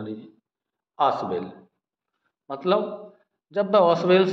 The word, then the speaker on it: Ausable: देखिए यहाँ पर जो ऑसवेल है, AUSABLE, ऑसवेल, ये वाली स्पेलिंग पढ़ेंगे।